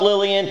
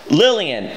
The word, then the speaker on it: Lilian: If you write the name with two L's, it's pronounced like a Y.